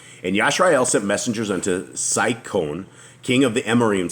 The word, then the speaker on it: Sihon: And Sihon, how does we say this here? It is Sihon.